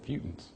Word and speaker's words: futant: Mutant with an F.